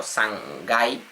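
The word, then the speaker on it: 三階: Primer piso es Ikai, segundo piso, Nikai, tercer piso, Sangai, a este se le ponen las comillas, al tercero, Sangai, cuarto Yonkai, Gokai y así con cualquier número que sea.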